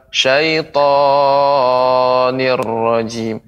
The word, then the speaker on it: الشيطان: Ya, syaitan Ibu, pengucapan syaitan tidak terlalu panjang. Syaitanir rajim. Akan tapi cukup ditekan.